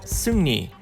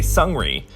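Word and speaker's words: Seungri: the way Korean Hangul rules work the true pronunciation is Sunni that R has an end sound actually but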